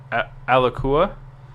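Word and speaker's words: Alaqua: uh which is awesome a alua I think it's the actual way to pronounce it alua Cox um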